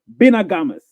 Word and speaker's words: Vina Gamas: Ovat Theo from Nigeria, Vina Gamas. I'm pronouncing it in Spanish. But if you want to pronounce it in Spanish properly, you need to go like Binagamas.